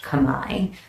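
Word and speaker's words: Khmer: local language uh it's Kamai it's spelled KH hm R so phonetically would be C but it's most often pronounced Kamai so it's the Kamai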